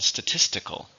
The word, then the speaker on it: statistical: How many syllables are in statistical?